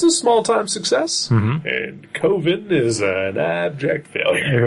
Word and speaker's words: Coven: Because he doesn't like Coven because it sounds like oven.